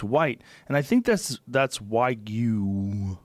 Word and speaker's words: Wagyu: And I think that's Wagyu. How do you say it? Wagyu.